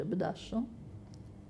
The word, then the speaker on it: abduction: E chi dice di aver sofferto di abduction, scusate, scrive abduction ma si legge abduction, soffre di un delirio,